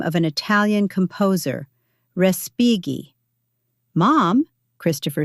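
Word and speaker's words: Respighi: Respigi. Mom, Christopher said beside me. It's pronounced differently. Respigi.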